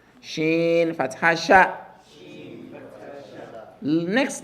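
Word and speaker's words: شين: No stretching. The name of the letter is stretched. Sheen, stretched. But when a fatha lands on it, it just retains that single fatha sound. Sheen fatha sha.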